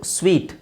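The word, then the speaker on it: suite: ಸ್ಟೀಲ್ ಅಂದ್ರೆ ಕಳ್ಳತನ ಮಾಡುವುದು ಇದು ಸ್ವೀಟ್ ಇದು ನೋಡಿದ ತಕ್ಷಣ ನಿಮಗೆ ಸೂಟ್ ಅಂತ ಅನ್ಸುತ್ತೆ ಆಕ್ಚುವಲಿ ಅದು ಸೂಟು ಹೌದು ಸ್ವೀಟ್ ಹೌದು ಎರಡು ತರ ಇದೆ ಸ್ಪೆಲ್ಲಿಂಗ್ ಇದೆ ನೋಡಿ ಅದಕ್ಕೆ ಈ ಸ್ವೀಟ್ ಸ್ವೀಟ್ ಸ್ಪೆಲ್ಲಿಂಗ್ ಒಂದು ಬೇರೆ ಬೇರೆ ಇದೆ ಉಚ್ಚಾರಣೆ ಒಂದೇ ಇದೆ ಮೀನಿಂಗ್ ಹಾಗೆ ಇರುತ್ತೆ ಇದಕ್ಕೆ ಇನ್ನೊಂದು ಉಚ್ಚಾರಣೆ ಇದೆ ಸೂಟ್ ಅಂತಾನೂ ಇದೆ ಬಟ್ ಅದನ್ನ ಸ್ವೀಟ್ ಅಂತಾನೂ ಹೇಳ್ತಾರೆ ಅದು ಆ ಸೂಟ್ ಅಂದ್ರೆ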